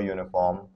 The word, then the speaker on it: uniform: All right, now it says you, it's a vowel sound, but is it pronounced like you or is it pronounced YU? Because it's pronounced YU, uniform, that's the sound, right?